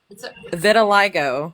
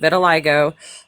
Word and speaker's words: vitiligo: Vitiligo. I was even pronouncing it wrong last night. Vitiligo, but it made his skin turn white.